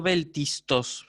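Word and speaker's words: βέλτιστος: Son 2 formas distintas de la sigma. ¿Sí? ¿Se entendió? ¿Sí? Entonces yo por eso digo beltistos. Es la misma letra que se pronuncia, pero tiene, recuérdenlo, 2 grafías distintas.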